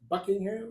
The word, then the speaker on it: Buckingham: So we got my man in the building, Buckingham. Is that how you say it? It is, yes, sir. Yes, sir. Like the palace.